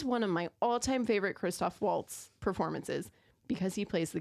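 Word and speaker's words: Christoph Waltz: like going down okay Christopher Waltz plays August did I say it wrong Kristoff Waltz oh I'm just you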